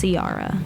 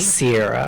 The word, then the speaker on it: Ciara: me in real life, is Ciara. Ciara. Ciara. Not Sarah. my last name. Just And So- not Sierra. And not Sierra. Sierra. It's Ciara. You can't say it Like with a the little singer. accent.